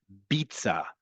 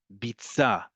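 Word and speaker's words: ביצה: Betza, with the eh vowel under the first letter, is different than bitza, bitza, with an e sound at the first letter.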